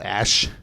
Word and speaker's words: Ashe: The new character called Ashe. McCree. But like her name is spelled ASHE. Ash.